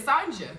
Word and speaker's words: Sanja: No, because I work with someone named Sanja, and it's not Sonia with the J in there. Like, it's Sanja.